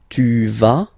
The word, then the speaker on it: vas: Basically you pronounce it like for the tu because you don't pronounce the final S, okay, il va, elle va, okay, je vais, tu vas, il va, elle va.